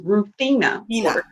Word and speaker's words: Ruthenna: It is Ruthenna.